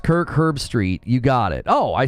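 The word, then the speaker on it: Kirk Herbstreit: of care you know it's pronounced Kirk herb Street you got it oh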